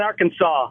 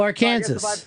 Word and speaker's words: Arkansas: So Oregon's not the only one that gets mispronounced. Well, now where do you live? Now I live in Arkansas. Oh, Arkansas. That's fantastic. Yeah, I was just gonna say, or they pronounce it Arkansas, or I should pronounce it Arkansas.